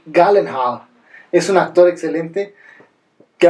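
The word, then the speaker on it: Gyllenhaal: un actor bueno que en realidad se pronuncia Jake galenhaal es un actor excelente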